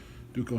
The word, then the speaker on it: Duco: I guess that's how you pronounce it. I've heard it pronounced both ways, but all the old timers pronounce it Duco. Duco cement.